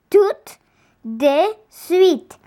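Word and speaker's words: tout de suite: sweet means right away in french you say it like this tooth de sweet sense of nessie's homework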